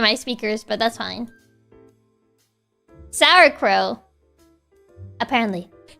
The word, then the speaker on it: sauerkraut: Sauerkraut.